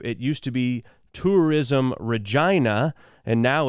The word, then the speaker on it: Regina: and that is this city which is called Regina Canada it's the capital city of Saskatchewan is